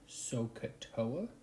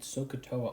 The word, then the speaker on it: SOHCAHTOA: That acronym is called Sohcahtoa.